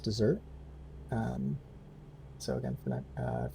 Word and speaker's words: Desert: it looks like desert i think it's pronounced dessert um so again for